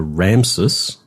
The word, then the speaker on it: Ramses: Now, the statues are Ramses. I mispronounced that, but the city is Ramesses.